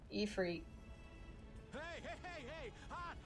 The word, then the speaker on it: Ifrit: That's how to pronounce it in this game. Not Ifrit. Ifrit.